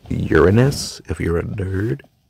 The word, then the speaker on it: Uranus: I'm on your anus. No, it's pronounced Uranus, if you're a nerd.